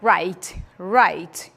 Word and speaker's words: write: O verbo write. Eu não vou ler o write, esse W aí é mudo, não falem o write, não é assim.